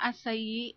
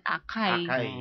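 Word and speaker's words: açaí: asai ung spelling non Ano ang spelling ng asay a c a i sa atin basa natin akay akay Pero in Brazil it's it pronounce asay Okay so k halimbawa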